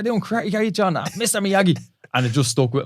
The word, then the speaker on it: Meogie: Now, the way we spell it is Meogie, which is arse ways. It's actually Miyagi, like Mr. Miyagi.